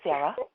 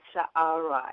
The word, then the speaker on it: Sa'ara: Hi, Sarah. Sometimes, actually, it's Sa'ara. It has a double A.